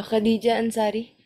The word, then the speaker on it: Khadija Ansari: business okay can you uh tell me the pronunciation of your name okay uh the full name uh Khadijah anari Khadijah andari okay so uh this is uh